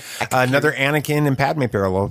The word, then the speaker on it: Akakiri: All right, episode 7, Akakira. That's how I'm going to pronounce it. I think it's Kiri. Akakiri? Okay. Yeah. Akakiri.